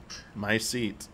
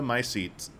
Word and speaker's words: mycete: It's like mutation and mycete combined.